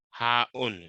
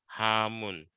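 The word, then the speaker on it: حاء: Hamun. No. Ha. Hamun. No. It So ends with ha'un. Ha'un. Ha'un. Okay, I think I'm borrowing the M from the Jim.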